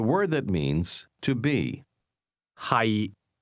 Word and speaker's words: 係: 係 The difference is that to be is pronounced with a low, level tone, and to be located is pronounced with a mid-rising tone.